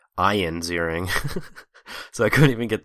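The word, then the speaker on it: Ziering: um it's not even Ian zering it's Ian zering so I couldn't even get the first name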